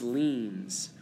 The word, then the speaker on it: lien: have what's called tax liens okay and this is spelled il ie in S but it said like lien like you're leaning to the side and that's if you